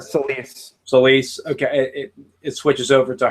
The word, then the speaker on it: Selyse: Celsia? How do you pronounce her? Selyse.